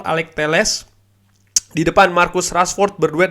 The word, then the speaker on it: Alex Telles: Ternyata pronunciation-nya itu Alex Telles. Gue cek dengan dari source gue yang orang Portugal. Ternyata betul Alex Telles.